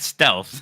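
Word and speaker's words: Stylth: satisfy it's called the steth grip yeah St y l t h steth I'm sure they want you to pronounce that stealth I think I'm sure they do and yet I'm GNA say steth okay so this is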